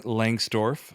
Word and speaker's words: Lengstorf: a special guest jason langsdorff pronounced as it is written from gatsby js jason